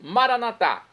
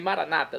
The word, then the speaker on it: Maranatá: Nós católicos dizemos Maranatá, do dialeto de Jesus, o aramaico. Nossos irmãos das comunidades evangélicas ou protestantes dizem Maranata, não importa a pronúncia, o significado é o mesmo.